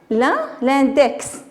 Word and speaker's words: index: Allez, ici, l'index. Très bien. On entend X. Donc, l'index. Donc, le X se prononce.